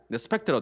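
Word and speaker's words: Respekt: 독일어에는 이 리스펙트가 리스펙트, 독일 발음은 그렇습니다. 레스펙트라고 되어 있는데 이 두 단어는 합성어예요.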